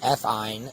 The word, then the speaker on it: ethyne: So they always will end with yne, which is pronounced ine. So this is ethyne, and this is propyne.